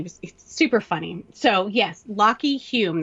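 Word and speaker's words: Lachy Hulme: super funny so yes lock Hulme that's how you pronounce it but it's spelled la CH y hu LM e mm-hmm and I didn't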